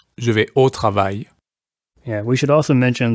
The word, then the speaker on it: travail: Because it ends in A, I, L, that's pronounced I. So let's hear that pronunciation again. Travail.